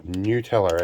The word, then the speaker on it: Nutella: Also, to my apprentice's delight, some Nutella, or Nutella as it's technically meant to be pronounced, but I'm Aussie, so we're going to call it Nutella.